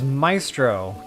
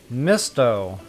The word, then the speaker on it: Misto: Oh, I read that as Maestro. Jeepers. Misto. Misto. I'm terrible with pronunciation. I'm just going to show them my cell phone. I'll type it in first. But I think it's pronounced... Mistro?